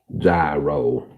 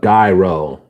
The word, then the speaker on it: gyro: Gyro. Or as I called it, gyro. Like too many guys in a row.